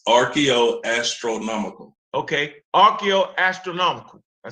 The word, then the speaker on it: archaeoastronomical: Okay, archaeoastronomical.